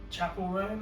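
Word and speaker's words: Chappell Roan: And then we saw Chapel Roan, is that how you pronounce Yeah.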